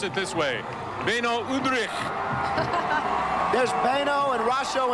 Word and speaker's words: Beno Udrih: explode rush onus Maravich and done you should pronounce it this way Beno Udrih this pain oh and Rosco and Britt berry